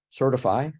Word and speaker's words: Sirtfi: the B line expectations certify or certify as it usually gets pronounced um which is a